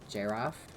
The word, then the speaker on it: giraffe: proper pronunciation of giraffe, which we all know is pronounced giraffe, with a J, even though it's spelled with a G.